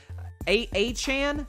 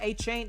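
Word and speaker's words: Achane: correctly I promise uh a Chan is how you say his name a chain something like that uh looked great as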